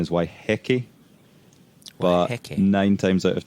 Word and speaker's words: Waiheke: it's of course I'm already word the Maori pronunciation is waiheke wow nine times out of ten you'll hear people say why hiki and so which is what I said it's